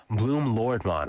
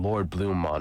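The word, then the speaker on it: Bloomlordmon: Interestingly, once the fight is over, Bloom Lordmon, I think I was saying his name wrong in the last one, I was saying Lord Bloommon or something like that, he's instantly right back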